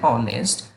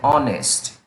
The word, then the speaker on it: honest: see an hour and honest because the first letter is silent here and it is pronounced as wobble for example an hour edges silent an honest yet it's silent and